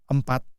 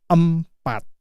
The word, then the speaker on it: empat: So the letter E here you pronounce it as a E empat. It's not empat. It's not empat. Oke. It's empat.